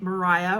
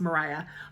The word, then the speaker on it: Maria: book where we meet Mariah or Maria Owens um I don't know which pronunciation Alice Hoffman wanted but historically would have been pronounced Mariah um who is the